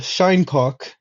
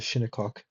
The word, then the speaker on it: Shinnecock: There's the shinecock, as I like to call them, or the shinnecock, probably is how you pronounce it.